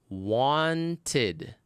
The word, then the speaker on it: wanted: That's the only case when the ed ending is going to be pronounced as id with a vowel sound. You add a syllable to the word. Wanted. Id. Wanted. We say wanted usually. Wanted. We skip the t.